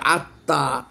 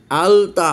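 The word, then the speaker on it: التاء: আসেন এটাকে দেখি, এখানে একটা আলিফ একটা লাম লাগিয়ে দেন, এবার উচ্চারণ করেন, বলবে তো উচ্চারণ হবে আত্তা, আলতা হবে না।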